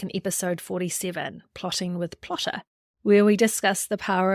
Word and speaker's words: Plottr: the education lead for Plotter, and that's spelled Plottr, which is the #1 visual book outlining and story Bible software.